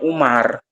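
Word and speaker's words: عمر: Jadi kalau tulisannya ain mim ro itu bacanya Umar. Ya kalau tulisannya ain mim ro itu Umar. Tapi kalau ain mim ro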